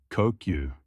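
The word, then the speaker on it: 呼吸: It's pronounced kokyu.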